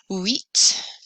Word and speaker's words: huit: Here's spelled out, just U-N, huit, huit. The H is silent, so you hear the U-I, ui.